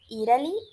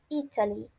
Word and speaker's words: Italy: Vocês podem ouvir Italy e vocês podem também ouvir Italy. Só que é mais comum vocês escutarem Italy, pela aquela questão do T, muitas vezes tem um som de R, enfim.